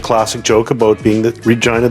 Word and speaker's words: Regina: They make the classic joke about being the Regina, the city that rhymes with fun.